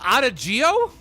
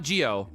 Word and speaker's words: adagio: Talking about Italian, this is said as adagio, adagio. Adagio. Adagio, not Geo.